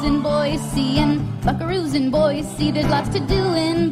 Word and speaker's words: Boise: Lots to see in boy, but there is no C in Boy.